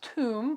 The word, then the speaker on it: Toum: It's pronounced Toum, but spelled T-O-U-M.